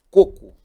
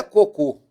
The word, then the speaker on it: coco: Coco. A palavra coco não é cocô. Cocô seria aqui a última. Coco é essa sílaba forte. É uma paroxítona terminada em O. Ela não tem acento.